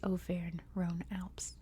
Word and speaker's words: Auvergne-Rhône-Alpes: Paris you know so since I am American and speak American English I'm going to pronounce it that way which is O Ron Alps but I am very